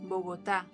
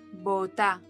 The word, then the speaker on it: Bogotá: To say the name of the capital of Colombia, it's Bogotá. But it's sometimes pronounced as Bogotá.